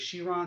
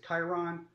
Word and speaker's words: Chiron: or the new Chiron some people pronounce as sheer on some other people crowns to Chiron the new of you